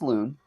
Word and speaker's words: lune: Well, the funny thing about this is that the term, so this is pronounced loon. The loon I'm talking about is spelled Lune.